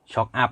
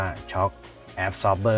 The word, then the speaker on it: shock absorber: ก็ ฟิวส์ นะ ครับ Shock Up นะ ครับ ว่า Shock Up Soft เอ้อ นะ ครับ ตาม บ้าน แล้ว อย่า โชว์ ครับ ยิง มัน ต้อง อ่าน ว่า ช็อค แอบ ซอร์บ เบอร์ นะ ชอบ ก็ คือ